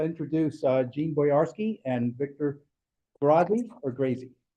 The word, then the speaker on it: Grazi: But so it's my pleasure now to introduce Jeanne Boyarsky and Victor Grazi or Grazi. Grazi, okay, great.